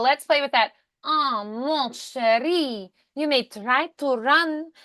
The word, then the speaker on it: mon chéri: anywhere that there's a vowel before an N, like and. Um, they also don't really pronounce the N. They just turn the vowel nasal. So like mon chéri.